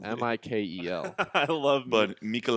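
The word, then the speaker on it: Mikel: astutely pointed out this not the correct pronounce his name is Michael mikl I love but Michael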